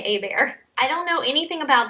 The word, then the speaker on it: Hebert: We say A-Bear. It's spelled like A-Bear. But it could be something else. So Cambria Hebert, maybe? I'm not sure how anyone else pronounces it, but we say A-Bear.